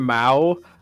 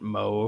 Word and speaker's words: Mao: Our friend Mao, I misread his name and I was pronouncing it Mo for the first like month that I knew the guy.